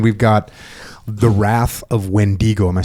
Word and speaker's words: Wendigo: And then we've got the wrath of Wendigo. Am I saying that right? Wendiggo. You can pronounce it one or two ways. It's a Native American word. So, it can be Wendigo or it can be Wendigo.